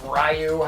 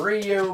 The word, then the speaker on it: Ryu: of picking Kenner Ryu it was rayu however you want to pronounce it or have been pronouncing it over the course of your life um I usually call him Ryu but sometimes I say rayu I don't know I guess it basically depends on how I'm thinking at the